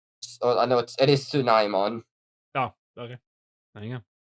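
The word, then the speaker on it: Tsunomon: I think it is pronounced Sneemon. It probably is. Let me check. Oh, I know it is Tsunaimon, Oh, okay.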